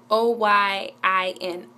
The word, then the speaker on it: Oyin: Oyin. Okay. O-Y-I-N. Oyin. Okay. That's how you pronounce it.